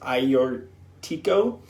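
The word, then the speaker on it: Agiorgitiko: Georgia Tico is how it's spelled but it's pronounced ior Tico and Moscow so those are two indigenous varieties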